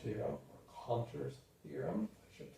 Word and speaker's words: Cantor: It's often called Cantor's theorem, or Cantor's theorem, I should say. I should know enough of German pronunciation to say Cantor instead of Cantor.